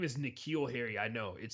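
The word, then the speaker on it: N'Keal Harry: how they say his name his name is nikhil harry i know it sounds weird so if you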